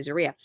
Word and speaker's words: Zeruiah: I'm never going to be able to say it right. Zeruiah. Zeruiah. I know. I'm so used to saying it the other way, but now I've trained myself to say Zeruiah.